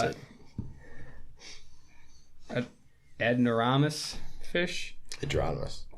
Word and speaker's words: anadromous: I was just gonna say because I cannot pronounce it. Adnoramus fish. Adronomous. Adronomous.